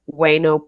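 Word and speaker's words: Ueno: So, if your kids are like toddler age, I would stay near Weno Park. It's spelled U E N O.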